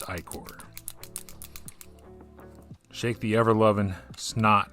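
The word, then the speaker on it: ichor: Again, I hate the word iicor on its face just because I don't like the way iicor is pronounced. It should be iker. But no, alas, English is a weird language. It's iicor.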